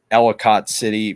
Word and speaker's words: Ellicott City: It's pronounced Ellicott City. Is it Ellicott City? It's just pronounced Ellicott City, not Ellicott. It looks like it should be Ellicott, but it's just pronounced Ellicott City. Yeah, like Chevrolet.